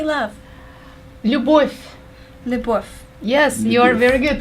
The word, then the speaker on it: Любовь: Любовь.